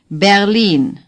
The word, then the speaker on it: Berlin: open and clear sound a bear lean say berlin bear lean no ha no per se ha